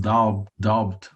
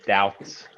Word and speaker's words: doubt: Using could suggests that something is less likely or that there is some doubt about it. Don't pronounce the B in doubt.